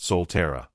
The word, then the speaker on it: Sulphura: This is the reason that led the inhabitants of Atlantis to form new cities, among them Lemuria and Sulphura, pronounced Solterra.